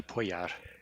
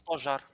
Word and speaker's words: pojar: The J sound in Romanian is pronounced z, like in the with the Russian thing that looks like an X but has an extra line in it.